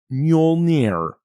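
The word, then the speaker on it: Mjölnir: he was F like it's pronounced muire muire and then he probably repeated it even slower muire I stopped oh yeah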